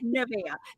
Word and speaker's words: Nevea: That's exactly how I pronounce it too. So we're on the same track. Okay, Nevea.